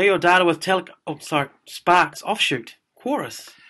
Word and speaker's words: Qrious: Quorus. Curious is how you spell it. It's a bizarre one. It's Q-R-I-O-U-S. I can see what they're trying to do. It's like Flickr. Oh, I see. Blur. It's curious.